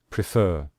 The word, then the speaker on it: prefer: regret becomes regretted and you can see here we stress the final syllable when we say prefer we say prefer so that is why